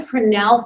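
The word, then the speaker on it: Fresnel: on here that's a fenel prism you don't pronounce the S and these are little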